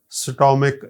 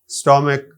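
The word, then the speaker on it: stomach: नसिया school chemist scholar स्टमक इस स्टोम नहीं कह सकते का स्टमक अकर य जो टीवी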